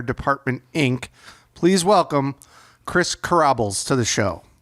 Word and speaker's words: Kribales: Please welcome Chris Kribales to the show. Did I say it right, Chris? Close enough. Kribales.